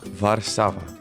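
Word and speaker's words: Warszawa: How do you say it in Polish? How to say Warsaw. Varsava. Oo, Varsava.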